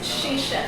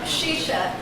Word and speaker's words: chicha: Basically, um, John speaks Spanish and in Spanish it's pronounced as a ch. In Brazil, it's Portuguese, so it's an sh. So, I'll be saying shisha, but it's the same thing that John was talking about.